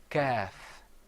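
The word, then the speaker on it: كاف: Another difference is that the qaf is pronounced full-mouthed. You kind of purse your lips a little bit. You say qaf. Whereas the kaf, you open your mouth up.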